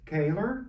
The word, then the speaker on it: Koehler: Fred Koehler, pronounced, from Yep.